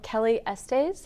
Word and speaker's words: Kelly Estes: and wrote a book about a year ago, Kelly Estes. Am I pronouncing that right?